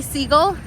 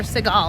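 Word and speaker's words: Sagal: uh I'm embarrassed because I don't even know how to pronounce her last name it's Katie seagull is it seagull I don't know seagull or Seagal I don't know K anyway I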